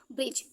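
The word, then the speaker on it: bridge: क्या आया है दी जब भी जी से पहले दी आएगा तो साइलेंट कौन होगा दी होगा तो यहां से बी से बा ए रहा है लास्ट का ए होता तो वो भी साइलेंट ही होता है मैंने पहले बताया ही है लास्ट में यहां पर होता है और जी से पहले जब भी दी आएगा तो वो भी हमेशा साइलेंट हो गया तो ये क्या हो गया ब्रिज नेक्स्ट जज के यू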